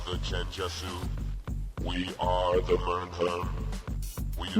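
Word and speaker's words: Mmrnmhrm: It's pronounced murmur. Whatever it is. All right. Device. We are the Chenjesu. We are the Mernherm.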